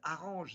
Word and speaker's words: orange: Or, orange, c'est prononcé orange parce qu'il y avait la ville d'Orange. Normalement, ça aurait dû être Arrange, Narange, Arrange, et on a dit orange à cause de la ville.